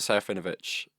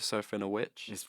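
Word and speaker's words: Serafinowicz: Peter Serafinovich, or Peter Serafinovich. It is says, Witch, isn't it? Yeah. Yeah. Well, I prefer Vitch, so we'll go with that. He plays this guy. His name wrong. Yeah. I prefer this way, so I'll say it that way.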